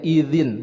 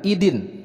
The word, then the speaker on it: يومئذ: Kemudian di sini huruf za, bukan huruf da, jadi bacanya idzin, bukan idin.